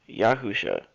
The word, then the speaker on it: Yahusha: if this seems familiar it is the correct pronunciation is yahusha it is the same as the yahusha the